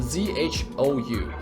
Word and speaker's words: Zhou: If you don't know, I'm gonna do a shout out to this character called Zhou, Z-H-O-U. That's how you pronounce his name, Zhou, and then in Chinese.